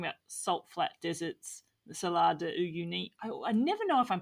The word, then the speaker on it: Salar de Uyuni: And when we're talking about images, we're talking about salt flat deserts, the Salar de Uyuni. I never know if I'm pronouncing that correct, by the way.